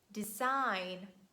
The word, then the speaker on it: design: is letter g and letter g silent at the end of words when it's followed by letter n and we say design align sign boring rain